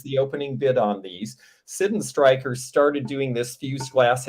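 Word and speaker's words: Sydenstricker: called Sidden Stryker, which for the last 30 years I have pronounced Sidden Stricker, but it was made in Massachusetts, and that was a guy's last name, and somebody from there said, I went to the factory and they pronounce it Sidden Stryker.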